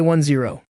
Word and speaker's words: 10: And yes, that is how it is pronounced in binary. We say 1 zero, not 10. That is because each digit in binary only ever represents zero or one of each place value, not the number itself.